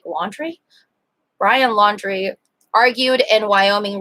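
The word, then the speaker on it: Laundrie: happened and brian laundry is his name pronounced like laundry brian laundry argued in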